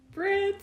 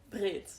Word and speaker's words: Britt: In Dutch it's like Britt. Britt, But here's like yeah. Britt. I want to say it like in the Dutch way, but then it's really difficult to switch your R like in the middle of a language.